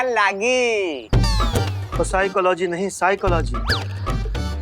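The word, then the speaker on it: psychology: का लागी साइकोलॉजी नहीं साइकोलॉजी प साइलेंट होता है तुम हो जाओ साइलेंट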